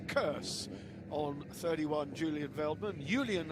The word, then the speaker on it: Julian: Julian, I will call him respectfully, because that is how they pronounce his name in the native Netherlands.